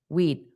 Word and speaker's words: we'd: But notice in pronunciation is almost silent. We'd, we'd better. You just we'd You just have your tongue up for that d sound.